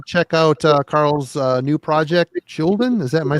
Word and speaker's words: Skjolden: Definitely go check out Carl's new project, SKJOLDEN.